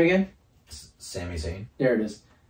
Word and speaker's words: Sami Zayn: Sami Zayn, There it is. Zammy.